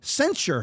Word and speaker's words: censure: her committees and to censure her? I always want to say censor, but it's censure, as I believe is how it's pronounced.